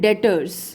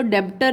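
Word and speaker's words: debtor: देनदार, लेनदार लेने वाले, देनदार देने वाले, यानी कि इनको बोलते हैं डेटर्स। दोबारा से रिपीट कर रही हूँ, बी साइलेंट रहता है इसमें, डेटर बोलते हैं हम इसको, डेब्टर नहीं कहते हैं, डेटर बोलते हैं।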